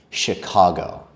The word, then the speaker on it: Chicago: We pronounce it as Chicago. Chicago.